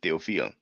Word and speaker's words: Théophile: 17th century commentators such as poet Theophile the Vio, well, the way it's written, I guess we should pronounce it Theophile because of the accent on the E, but it's just a detail.